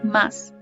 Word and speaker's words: mas: que pasa esta palabra más que significa pero muchas veces la mayoría de las veces los brasileños no la pronuncian como más dicen maíz como si fuera pero no de nada